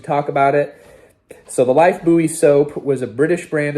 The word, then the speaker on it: Lifebuoy: called Lifebuoy soap, but they pronounce it Lifebuoy soap.